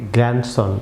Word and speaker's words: grandson: যেমন লক্ষ্য করুন যে GRANDSON, গ্র্যান্ড, আমরা এটিকে বলি বাংলাদেশে অনেকে প্রনাউন্স করি গ্র্যান্ডসন, ভিউয়ার্স সম্পূর্ণ ভুল প্রনাউন্সিয়েশন ভিউয়ার্স।